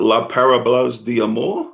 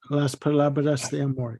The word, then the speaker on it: Las Palabras de Amor: La Parablas de Amor? Is that how you say it? Las Palabras de Amor.